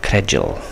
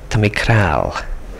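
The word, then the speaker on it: credjal: To look at it, you think, oh, credul. But the old Manx people would say, Tamikral. And they slurred it in.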